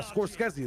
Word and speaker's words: Scorsese: How do you pronounce is not Martin Scorskezi? Is that not his name? Is that not his name? This is this is used to play. Yeah. Scorsese the same Dude, they